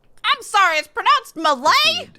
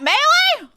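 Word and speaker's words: mêlée: speak with you before the grand Malay not melee we've been pronouncing Super Smash Brothers Malay all wrong how do you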